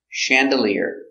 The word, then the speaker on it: chandelier: skydiving very good pronunciation Chandelier chandelier accidentally first syllable soft sound Chandelier this is a